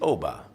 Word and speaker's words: Obba: there is no short it's Oba two syllables OB like Mary Tommy Bobby Sammy you can do it